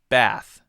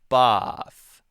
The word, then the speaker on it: bath: front the British one so for example be ATH be ATH Americans will say bath ah you can hear bad bad bad bad bath British person might say boss ah so there's the ah and the air ah and ah right that's one difference okay